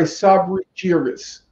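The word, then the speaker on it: Sabri Jiryis: it was written by sabri cheeris is how he pronounced his name yes and when the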